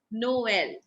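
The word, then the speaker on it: Noël: So we will give individual sound to O and E, and the pronunciation becomes Noel.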